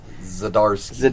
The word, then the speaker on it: Zdarsky: I ain't gonna try to pronounce the last name. Zdarsky.